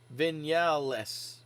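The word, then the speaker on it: Viñales: Marquez is long gone vignellis is how you pronounce his name thank you fredster uh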